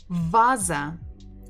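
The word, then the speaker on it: ваза: is V vv because in English lesson it has the sound bb but in Russian it has the sound vv like uh English v VV vaza vza vaza vaza.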